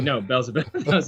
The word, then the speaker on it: Beelzebub: They were like, "No, Beelzebub."